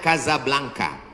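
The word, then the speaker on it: Casablanca: kuliah nama negaranya Maroko ibukotanya tulisannya casablangca cara bacanya Kadzab langka Kaza artinya rumah Blanca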